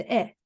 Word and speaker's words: へ: So the へ is written hiragana へ this shape へ but the pronunciation is Okay.When you see this he as a connection between words and words, you pronounce e.